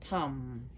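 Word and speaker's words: Tam: So as for white Tara, her seed syllable is Tum. T-A-M, Tum.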